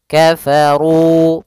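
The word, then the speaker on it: كَفَرُوا: Kemudian kafaru ada lafal ruali lagi ada mad thabi'i yaitu dhammah bertemu dengan wau. Dan di sini ada huruf alif yang ditandai dengan sifar mustadir di atasnya yaitu tanda lingkaran kecil yang berbundar ini. Maka dia alifnya tidak dianggap ada sehingga hanya runya saja ketemu dengan wau. Kafaru panjangnya dua harakat sehingga panjangnya ru dan dzi harus sama.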